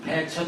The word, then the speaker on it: 배천: 한자로는 백천이라고 쓰기 때문에 사람들이 전부 이걸 백천이라고 읽는데 사실은 흰백자로 읽지 않고 땅 이름일 때는 배라고 읽는다. 그래서 이걸 황해도 배천이라고 읽거든요. 여기 한문 잘하시는 분들이 많이 계실 테니까 아시겠지만 백천이 아니고 배천입니다.